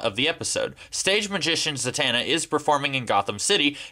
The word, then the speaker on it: Zatanna: Yeah, I pronounce it Zatana, not Zatana.